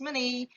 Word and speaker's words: Monet: name of this man is cloud Lonnie it pronounced as many because it is a French word so definitely he is a French so what is the contribution of money into the field of Impressionism art Impressionism art